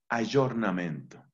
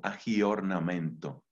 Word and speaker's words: aggiornamento: son lo que corresponde a la palabra italiana aggiornamento que se escribe con doble g y con el aggiornamento aggiornamento el aggiornamento giorno pues es el día